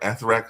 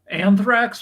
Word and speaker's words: anthrax: the chemicals that have been sprayed um an arthax I think it's called or something like that how it pronounced anthrax what anthrax yeah when when that was